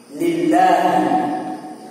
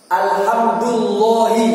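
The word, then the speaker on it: لله: Adapun pujian yang tertentu adalah iku, itu khabarnya, lillahi, lillahi. Cara bacanya gitu. Nggak boleh alhamdulillahi, nggak boleh gitu, ya. Kalau alhamdulillahi sebelum Allah harus ada alif, gitu, harus ada alif.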